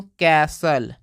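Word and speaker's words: castle: Vehicle, इसको पढ़ते हैं दोस्तों कैसल।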